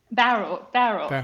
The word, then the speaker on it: Bowral: Now, I think do I pronounce it Bowral? Barrel. Yes. Barrel.